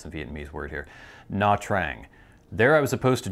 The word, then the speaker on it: Nha Trang: Okay, we're gonna be trying to pronounce the Vietnamese word here. Nha Trang.